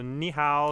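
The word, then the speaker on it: 你好: very exciting times man right now so so knee how did everyone in china you know was that right yes that is perfect the pronunciation is perfect thank you alex my mandarin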